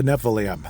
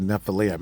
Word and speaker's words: Nephilim: the heck is a Nephilim? And I'm finally saying it correctly. There were times I called it Nephilim.